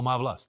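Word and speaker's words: Má vlast: Mavlas. Oh, Mavlas. Yes. Mavlas. Okay, so that is how you pronounce it.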